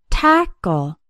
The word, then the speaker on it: tackle: tap cat and pack tackle has two syllables and the stress is on the first syllable tackle the second syllable sounds